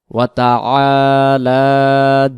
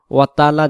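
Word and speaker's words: وَتَعَالَىٰ: আমরা বলে ফেলি ওয়াতালা জাদ্দুকা মানে পড়ার গতিতে ওয়াতালা ওতালা হয়ে যায় এখানে ওয়াতা ওয়াতা এক আলিফ টান হবে ওয়াতালা ওয়াতালা আর যদি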